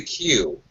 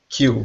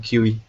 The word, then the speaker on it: queue: Yeah, but the pronunciation is in the queue. Q. Okay. Okay. I And there's was pronouncing QE.